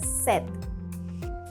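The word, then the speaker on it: sept: S-E-P-T, and we say it as set.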